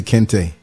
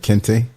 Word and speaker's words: Kente: It's like Clark Kent, like say Kente. Kent, like Kente.